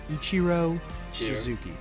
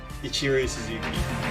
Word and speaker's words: Ichiro Suzuki: Ichiro Suzuki. Ichiro Suzuki.